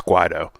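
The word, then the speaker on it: Guaidó: And by the way, how do you pronounce the name of the legitimate president? It's Guaido, but there hasn't been mass There's been a lot of people definitely standing up with Guaido, but I'm thinking it's more from the we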